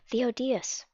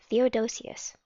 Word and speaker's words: Theodosius: great riot arose in Antioch against the Emperor Theodosius. I don't know how to pronounce this. Man, we're learning good words today. Theodosius. Theodosius. Thank you. Against the Emperor Theodosius. Did I say that right? Theodosius. Theodosius.